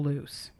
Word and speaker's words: Luce: The next patient I want to talk about is Myrtle Loose. And it's spelled Luce. I think I'm saying it right. Yeah, Loose. Yeah, that sounds right.